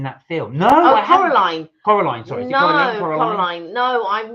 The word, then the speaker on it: Coraline: worth the calories uh Liam said I saw colorine coralan in the cinema have you seen that film no I Coraline Coraline sorry Coraline no I've not seen Coraline I